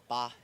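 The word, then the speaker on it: 八: In China, the number eight, we pronounce it as ba and it rhymes with fa, which means prosper and like your future.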